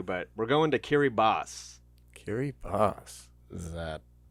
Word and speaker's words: Kiribati: made this up but in their language ti is s so like the barthelonians